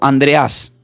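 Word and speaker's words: Ἀνδρέας: Este nombre Andrés del griego se pronuncia como Andreas, así como suena.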